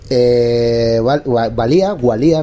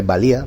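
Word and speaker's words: Walia: Gualía, ¿no? Con W se escribe, creo que se dice Valía, ¿vale?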